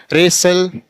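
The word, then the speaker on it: wrestle: ऐसे यहां fasten, रेसल, T silent, STLE, टी आया तो टी क्या हो जाएगा साइलेंट, रेसल।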